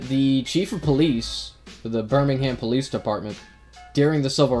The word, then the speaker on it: Birmingham: Okay, and in Alabama, there's a city called Birmingham. Yeah, Birmingham. Or as the British say, Birmingham.